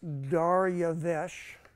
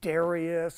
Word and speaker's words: Darius: the people I mentioned okay daras pronounced daresh so if you if people argue is it Darius or is it daras it's neither one of those it's dares that's how he actually pronounce it okay and it means